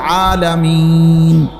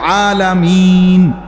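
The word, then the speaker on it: العالمين: শরীফে আছে আলহামদুলিল্লাহি রব্বিল আলামিন এইযে আলামিন এ শব্দটা নুনের মধ্যে জবর তাহলে মূলত হবে আলহামদুলিল্লাহি রব্বিল আলামিনা কিন্তু আপনি মিনা কেন কন না এজন্য যে আপনি নিঃশ্বাস ফেলাইছেন মানে এ শ্বাস ফেলছেন এইজন্য এখন শেষের অক্ষরটার মধ্যে কি বানাইলেন?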